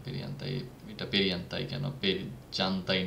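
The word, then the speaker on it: perjantai: ফ্রাইডেকে বলে পেরিয়ান্তাই। এটার জের উচ্চারণটা ইয়ের মতো। যারা প্রনাউন্সিয়েশনের জন্য আমার আরেকটা ভিডিও আছে, সো ওইটা দেখলে প্রনাউন্সিয়েশনগুলো ক্লিয়ার হয়ে যাবে যে পেরিয়ান্তাই, এটা পেরিয়ান্তাই কেন, জানতাই না কেন।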